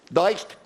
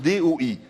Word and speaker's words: doigt: Dist ? Non, Sylvain, on prononce D ou I, car le G et le T sont des lettres silencieuses.